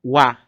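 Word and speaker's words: は: O Ra, quando ele estiver na função de tópico, a gente vai ver isso mais à frente, ainda nessa aula, ele vai pronunciar como Wa, Wa.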